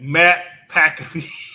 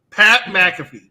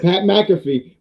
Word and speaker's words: Pat McAfee: definitely butchered that name you said matt packafy you you definitely butchered it that time pat mcafee go ahead pat mcafee but none of us